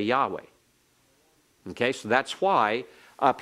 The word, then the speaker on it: Yahweh: Now we will pronounce it. In all of our reading, we'll pronounce it as Yahweh, as Yahweh.